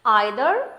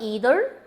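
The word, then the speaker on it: either: आइदर, ईदर, नाइदर, नीदर, both are acceptable.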